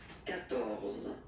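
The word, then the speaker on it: quatorze: So you will get the sound K here.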